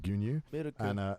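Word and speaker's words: 牛乳: places, you know, milk is traditionally like just pronounced like gunyu, and then now in a lot of coffee places it's like miruku.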